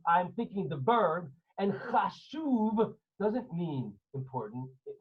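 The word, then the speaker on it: חשוב: How do you say important in Hebrew? 10, right. Chashuv. Chet, shin, vav, beit. Chashuv.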